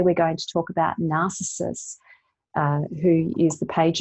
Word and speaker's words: Narcissus: a few stories about narcissus and or narcissus uh is is how his name's actually pronounced and uh some of